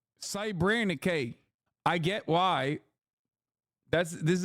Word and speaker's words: Srebrenica: as a genocide because it belittles the term, pronounced Srebrenica. Srebrenica.